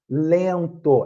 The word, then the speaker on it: lento: Calha, banha, rainha, lento. É a mesma coisa. Lento. A gente não pronuncia o N. A gente faz o som do E pelo nariz, né?